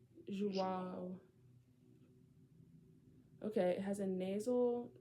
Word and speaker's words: João: João. It has a nasal sound at the end of it. João. Okay, it has a nasal. João.